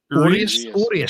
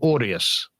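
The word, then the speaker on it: Urías: Urias. You got to roll your R. Urias.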